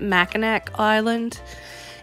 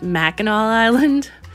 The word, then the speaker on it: Mackinac Island: knew that it was Mackinac Island and so that kind of bothered me every time she said mechanic you know cuz that's how it looks but that's not how they actually pronounce it in about the third